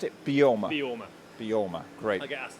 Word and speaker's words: Beorma: Alex Simpson, I am the founder and managing director of Beorma Leather Company. Excellent. And how do I pronounce it? Beorma.